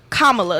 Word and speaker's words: Kamala: They say that I'm gonna say her name right, Kamala, because that's how you're supposed to say it.